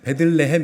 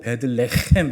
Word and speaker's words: 베들레헴: 빵 혹은 떡이라는 뜻입니다 그래서 레헴 할 때요이 햄 발음이 여러분 가래 배틀 대하시는 그 소리 있죠 그래서 베들레헴 이렇게 하시면 안 되고 베들레헴 이렇게 하셔야 돼요 원래 히브리어가 그렇습니다 그래서 굉장히 깊은 곳으로부터 끌어